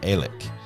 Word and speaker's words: Alex: X um is actually spells his name with a-l-e-x and pronounced elik um which I guess you